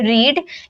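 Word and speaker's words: read: First form को हम बोलते हैं रीड, लेकिन सेकेंड फॉर्म में रीड को रेड में प्रोनाउंस करते हैं और थर्ड फॉर्म को भी रेड में प्रोनाउंस करते हैं।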